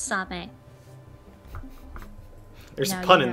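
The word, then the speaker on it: サメ: The Japanese word for shark is same. Spelled like the word same, but pronounced same.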